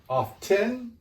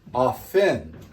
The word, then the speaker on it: often: Now, my pronunciation, often, maybe your pronunciation, often. Both will be accepted.